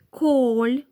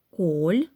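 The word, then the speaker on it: Kohl: Коль, капуста. Буква Х після О не читається, вона подовжує голосну. Слово дуже легко запам'ятати. Воно нагадує ім'я Коля. Коль, кнак.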